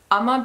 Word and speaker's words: Uoma: So my next place that I bought from is called Uma Beauty, which is spelled U-O-M-A Beauty.